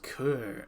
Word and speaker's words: coeur: Hello, mon coeur. It's pronounced cur.